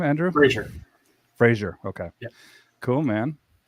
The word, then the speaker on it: Fraser: Fraser.